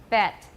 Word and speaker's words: bet: But for bet, now just watch, and maybe from the side is better. Bat, bet, bet. Is my jaw doing anything at all?